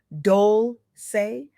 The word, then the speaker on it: Dolce: I'm your host Leanne Dolce, pronounced dolce like sweet softness whispered in French.